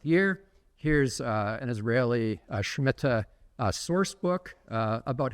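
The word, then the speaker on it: שמיטה: the scha and again in Israeli Hebrew it's pronounced schmitta and um this is the term right there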